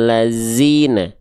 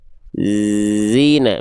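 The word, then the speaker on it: الذين: Dibacanya jangan jadi minal ladzina. Zina, minal ladzina. Nah, bukan zai.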